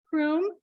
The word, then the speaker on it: Croom: we have with us Sydney Chrome is that the right way to say her last name yes okay great and Sydney